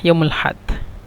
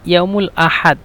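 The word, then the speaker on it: يوم الأحد: মুমকিন বারুহ ইয়াউমুল হাদ, এখানে ইয়াউমুল আহাদ, ইয়াউমুল আহাদ এখানে উচ্চারণ করে আঞ্চলিক ভাষা ইয়াউমুল হাদ, মানে এই যে আ শব্দটা ব্যবহার করে না, ইয়াউমুল হাদ ডাইরেক্ট ইয়াউমুল হাদ, এভাবে।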